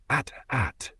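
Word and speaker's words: AT-AT: Buddy, that's how you pronounce a barcode, not an Imperial walker. It is and always has been at at, as in at crushes Kyle's ego beneath its footpad.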